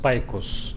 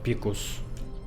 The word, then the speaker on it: Picus: Okay, so it's pronounced Picus, not Picus.